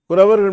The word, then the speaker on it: Kuravargal: Kuravargal means we have to use the small ra. If in Tamil, Kuravar means small, there are two R, ra, ra. The second one is you have to spell it very strongly. You have to pronounce it very strongly. Ra. You understand? Here it's a very light type of pronouncing it. Ra. Very light. Soft ra. So Kuravar soft ra.